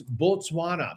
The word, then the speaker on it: Botswana: It's Botswana because it's an O.